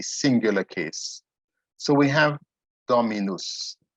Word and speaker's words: dominus: case so we have dominus remember for there has to be as many syllables as there are vowels so we have three vowels the o the i and the u so it's domenus that means the lord